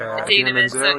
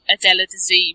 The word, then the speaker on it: Idina Menzel: Because I've read that John Travolta pronounced. Yes. I'm going to say her name right. Idina Menzel's name. Idina Menzel.